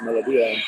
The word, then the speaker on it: Melodia: My research team tells me it should be pronounced Melodia.